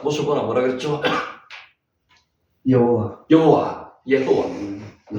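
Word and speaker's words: יהוה: 여호와, 예호와. 여기는 오가 위로 올라갔으니까 오가 나죠. 예호와. 예호와.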